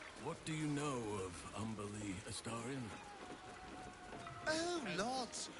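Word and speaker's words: Umberlee: What do you know of Umberly Astarion? Oh, lots. Rhymes with undersea, for one thing.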